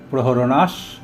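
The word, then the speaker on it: प्रहरणाः: নানা শস্ত্র প্রহরণাহা এর পরে সর্বে শব্দটি থাকার জন্য বিসর্গের উচ্চারণ দন্তস্ব হয়েছে। নানা শস্ত্র প্রহরণাস সর্বে, নানা শস্ত্র প্রহরণাস সর্বে।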